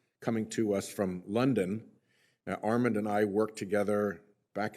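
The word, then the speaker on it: Armond: I've I've never heard Arman Armen how do you pronounce it Armen is correct thank you all right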